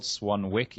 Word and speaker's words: Swanwick: And you spell Swanwick Swanwick, so it's spelled Swanwick, even though it's pronounced Swanwick.